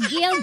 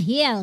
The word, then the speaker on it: Gil: Hi my name is Gil Govil par si Lorna ganyan pangalan hindi nila-pronounce na hill kundi gil sa Pilipinas pangalan niya Lorna.